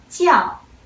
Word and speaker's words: 叫: The first one, 叫. 叫. Let's pay attention this initial. This initial is 鸡. 鸡. You don't want to read it as 知, okay? So 叫, you could understand as well as to be called.